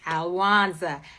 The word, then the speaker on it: Alwanza: It's easy to say my name. It's not hard. It's Alwanza.